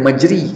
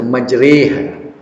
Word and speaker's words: majriha: Cara bacanya baca bukan majri, kena baca majriha.